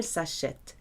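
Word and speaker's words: s'achètent: That ENT is also silent, so il, elle s'achète.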